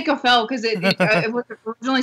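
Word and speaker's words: Kafei: ] depressing especially like watching um Andre and cfel just like or Cel Cafe I always say cfel because it it was originally supposed to be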